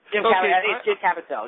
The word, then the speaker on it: Caviezel: Jim Caviezel. Did I say that right, Simon? I think so, yeah. Jim Caviezel, yeah.